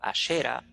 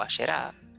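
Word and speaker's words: Asherah: Entonces, la consorte del dios El, conocida como Atirat o Asherat, en la Biblia conocida como Asera o Ashera o Asherá, terminando con H, a la que se le llamaba diosa de Asherat del mar, o sea, era representada como la diosa del mar.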